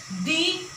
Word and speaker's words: the: यूज हुआ हो, तो उस कंडीशन में हम द प्रोनाउंस करेंगे।